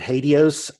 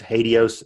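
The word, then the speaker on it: HATEOAS: We also want to use something called, I pronounce it Hadios. I've heard many different pronunciations. Hadios is what I like.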